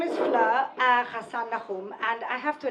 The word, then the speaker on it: Fleur: First of all, because Fleur, nobody can pronounce, okay? So the Americans call me Floor. The Israelis call me Feller.